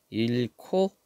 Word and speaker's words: 잃고: 좀 생각을 하면 돼요 자음 히은 다른 자음 아고 합체할 수가 있다 그래서 여기 일코 이렇게 발음이 된 겁니다 소가 중심을 잃고 쓰러질